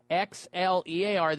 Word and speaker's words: Xlear: It's called Xlear, spelled with an X, Xlear.